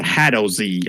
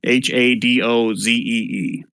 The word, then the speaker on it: Hadozee: So, and they're called HADOZ. I think that's how you pronounce it. HADOZEE.